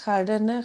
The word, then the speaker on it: කඩන: மம கடன கொட்ட இல்ல அது ஒய ஹடன கொட்ட வரக்கூடாது. கடன கொட்ட. அந்த கே சவுண்ட் உச்சரிக்கப்படணும். கடன கொட்ட.